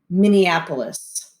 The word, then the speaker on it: Minneapolis: to say minneapolis so let's practice saying it minneapolis minneapolis minneapolis minneapolis minnesota so minneapolis is the